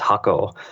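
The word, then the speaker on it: 箱: bxu and the character the Japanese character is actually pronounced hako and as a brand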